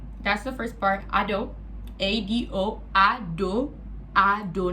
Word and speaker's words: Ado: A-D-O, Ado. Ado, not Ado or Ada. It's Ado. So Ado. You guys address me as Ado because that's what I feel comfortable as.